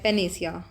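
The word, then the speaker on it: panacea: इसको spell pronounce ऐसे ही करते हैं। पेनेसिया आई सर्च्ड अबाउट इट।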